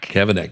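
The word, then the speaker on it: Cavanagh: Pronounce that company that you Kavanaak. Cavana just like it sounds. Okay. Yeah. The C the the G is silent.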